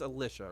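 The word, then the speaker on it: Elisha: That's Alicia, right? Alisa. It could be. Yeah, I would say Alicia.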